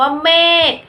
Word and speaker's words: เมฆ: ตัว อย่าง คำ 1 คำ คือ คำ ว่า เมฆ เม อ่าน ว่า เมฆ คำ ว่า เมฆ สะกด ด้วย ค ระฆัง ซึ่ง อ่าน ออก เสียง